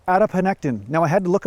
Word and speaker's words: adiponectin: check again is it adiponectin yes it's called adiponectin who makes these words up who does this